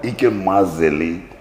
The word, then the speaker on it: Ikem Mazeli: Ikem, Ikem Mazeli. Yes, the pronunciation, if for me, Malo Zelo way. So, in the band, I am up there, Mazeli. So, Ikem Mazeli. Mazeli. It sounds like French.